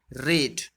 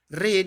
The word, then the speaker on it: read: in this case we have to pronounce it like read, not like read। हम लोग क्या है उसका प्रोनाउंस, उच्चारण जो है वो रेड करेंगे, ना कि रीड करेंगे।